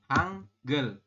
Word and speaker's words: 한글: Hanggel. Ya. Hanggel ya. Nah, seperti ini teman-teman. Hanggel ya. Dibacanya adalah hanggel. Jadi hanya itu dibaca hanggel gitu ya.